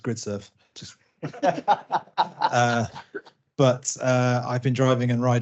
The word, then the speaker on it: Gridserve: That's pronounced Gridserve.